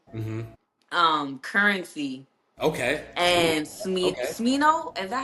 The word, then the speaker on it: Smino: Smino. Is that how you say his name? Shmino, yeah.